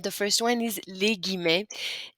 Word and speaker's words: les guillemets: you're quoting somebody's words, it's pronounced les guillemets.